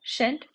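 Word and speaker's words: shan't: इसको वंट pronounce करेंगे शल नॉट को इस तरीके से भी लिख सकते हैं इसको शट प्रोनाउंस करेंगे ठीक है अब एग्जांपल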